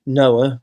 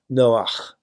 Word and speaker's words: Noah: So the central character, of course, is, in English, Noah, but strictly speaking, it should be pronounced Noach, which, of course, is the Hebrew word for comfort or rest.